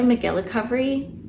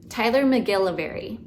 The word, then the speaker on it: Tyler McGillivary: would say, is Tyler McGillovery. Is that what it's called? Tyler Hold on. I always say it wrong. Tyler Tyler McGillivary. Yeah, Tyler McGilly.